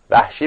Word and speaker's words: وحشی: سیاه پوست بود ؛ وحشی، میگن اسمش باید اینجوری تلفظ بشه.